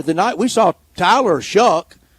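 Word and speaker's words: Shough: We were there the night we saw Tyler Shuck. I don't know how he came up with Shuck at S H O U G H.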